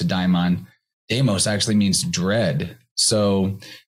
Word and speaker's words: daimon: like level for example in greek deimos which is spelled slightly differently but sounds quite similar to daimon deimos actually means dread